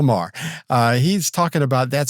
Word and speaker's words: Maher: Mahar Mah Bill Mah talk Mahar Mahar well I mean that's how it's spelled I don't know I'm Southern I don't I can't I can't pronounce things uh it's Bill Maher uh he's talking about